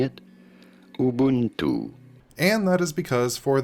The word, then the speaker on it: Ubuntu: How do you go about pronouncing it? Ubuntu.